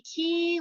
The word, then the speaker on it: Key: Now, Key is spelled in the French way. It's Quay, because I was saying Quay Wardlaw House. And somebody laughed at me on my tour and they said, it's the Key Wardlaw House.